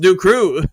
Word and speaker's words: Dew Crew: Mike the Marine Gunny, howdy, Dan and Do Crew, pronounced Do Crew.